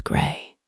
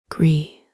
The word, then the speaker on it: Gree: Spell it gr not gray like the color. Gree like a family name. She hates when people get it wrong.